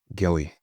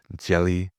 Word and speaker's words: Gelly: My last name is pronounced Gilly and spelled G E L L Y. I don't think it's hard to say, but somehow it always tripped people up.